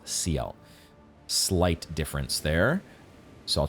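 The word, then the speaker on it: Sciel: the gestal arena, and I think Gustav pronounces it Seal.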